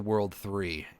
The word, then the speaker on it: WWW: Yeah, the WWW organization is referred to, pronounced as the World 3 for some reason.